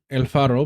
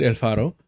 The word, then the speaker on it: El Faro: Now, we've read El Faro before. I remember this because I pronounced the R too hard. Apparently, Salvadorian news outlet El Faro says its assets frozen in retaliation for reporting on Boule.